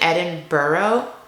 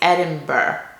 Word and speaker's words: Edinburgh: always pronounce it improv i keep saying edinburgh but apparently it's edinburgh like b-u-r no gh edinburgh it just feels like